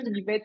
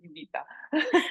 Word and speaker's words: Nivetha: Sorry, I'm still, I No, have no, this attitude of calling you Niveta, but it's actually Nivita.